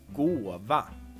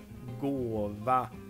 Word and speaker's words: gåva: It's just so soft sounding, gåva. The soft G. You have the O, and then you have a V. The V is also very soft. We also have the Swedish pitch accent here.